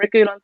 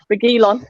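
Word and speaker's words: Reguilón: Saeed, by the way, saying Reguilon, apparently is how you pronounce it, will be the best left back in the world soon.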